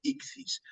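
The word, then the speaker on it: ἰχθύς: suele llamar ictus pero si lo hacemos literalmente como a mí me gusta desde el griego porque son es un acrónimo son iniciales griegas lo hacemos directamente al Castellano la pronunciación sería icis Por qué pues aquí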